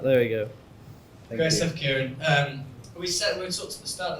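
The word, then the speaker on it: Ciaran: And if there's people that can connect with us on social media, connect with myself, it's Kieran, it's spelled Irish, C-I-A-R-A-N.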